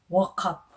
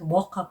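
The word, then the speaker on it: Wauchope: up is actually not walk up us in you walk up in the morning no it's just how they pronounce it the the which is the spelling is w-a-u-c-h-o-p-e okay it is um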